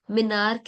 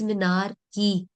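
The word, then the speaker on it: menarche: anyone else, which means minarch is not minarch, it's minarchy.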